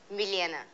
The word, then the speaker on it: Milena: i bet you guys nobody will be able to pronounce it but it is millienna miliana nice i got an applause for my name yes milan it's m-i-l-e-n-a but since i was